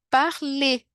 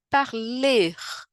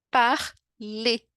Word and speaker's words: parle: né E aqui ó parle né não tem um R no final o que significa que a pronúncia não é parler né não tem um R no final é parle par lê e aqui já mostra